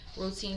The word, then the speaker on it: Rooteen: The Baby Moon Routine. Routine is spelled ROOTEEN.